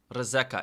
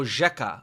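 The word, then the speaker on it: rzeka: Reeka. Is she pronouncing river wrong? How do you say river? Oh, jeeka. Oh.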